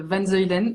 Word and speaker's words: Van Zuylen: Dutch name so it's it's a Van Zuylen in French and Dutch I think it sounds a bit like "van Soylen" or something like that.